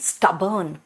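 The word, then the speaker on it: stubborn: ढीट मतलब भाई स्टबर्न। अब लिखा हुआ है स्टबोर्न। देखो मैंने कहा था ओ का प्रोनंसिएशन खाली ओ नहीं है। अ भी होता है।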